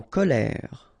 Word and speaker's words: colère: So e z amuser en colère. Ok remember accent grave et and then r. Ok you don't insist on the e.